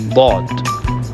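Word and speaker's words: ضاد: In order to pronounce dot correctly, the left and the right sides of the tongue presses the upper palate while making the full and thick sound of dot letter.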